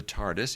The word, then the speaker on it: Tardis: Who is named the Tardis is actually an acronym for Time and Relative Dimension in Space and one needs to hear a Brit pronounce it as the r sounds somewhat silent check check out the